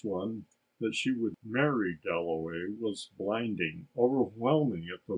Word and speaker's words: Dalloway: wickham at last he said my name is delaway that was his first view of richard a